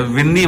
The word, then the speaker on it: विंदी: लेकिन spelling mistake कर दी थी, बी कर दिया, बिंदी। जबकि VINDI अच्छा, तो विंदी मामा है असली नाम। VINDI विंदी मामा।